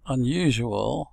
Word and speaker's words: unusual: Okay, so you've heard these words, this word unusual pronounced, and you see no Y's in the spelling because you have a Y glide inserted, and you also have a W glide inserted.